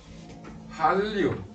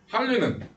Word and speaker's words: 한류: 난류, 한류. 이거 뭐라 읽는다? 난류라고 읽는 거야. 난류라고 읽는 게 아니라 난류, 한류라고 읽는 거야. 난류, 한류 이따고 읽지 말고 자음동화 해야 된다고.